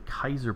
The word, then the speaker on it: Caesar: played fallout new vegas you've heard the Kaiser pronunciation used in reference to the Caesar NPC hmm okay interesting oh